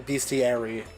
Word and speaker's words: bestiary: I will never stop saying beastiary.